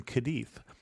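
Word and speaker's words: Cádiz: of Barcelona with in kadei or kadis depending on how you want to pronounce it I'm pronouncing where I can with the Spanish pronunciation but kadei is the home of Sherry as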